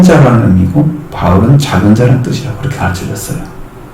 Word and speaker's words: 바울: 바울이라는 사람, 헬라어로 파울로스 이렇게 있죠. 영어로는 폴 이렇게 있습니다. 그러니까 좀 발음이 많이 바뀌었죠. 근데 한국어는 바울 이렇게 있습니다. 파울까지는 이제 바울로 바뀐 거죠. 파울로스 뒷자는 빼고.